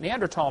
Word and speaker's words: Neanderthal: By the way, in case you don't know, the Neanderthal Neanderl, the H is silent. Neander tall man is named after